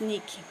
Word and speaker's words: Nietzsche: kill y ni que es nietzsche e y se pronuncia con che ejemplo gracias es gracias hay